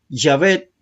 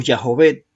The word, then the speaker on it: Yahvé: Yahvé o Yahvé, según el consenso académico, es la pronunciación más probable del tetragramatón hebreo, nombre propio que emplea